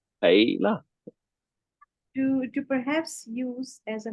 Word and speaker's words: Heila: like just say hey, like you're saying Hey. Hey. And then you just Heila. say la. Hey la.